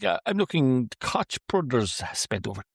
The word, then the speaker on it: Koch: The Koch bro-Koch It's pronounced Koch. Oddly. I don't know why. The Koch brothers I'm going to have to take it fun with that.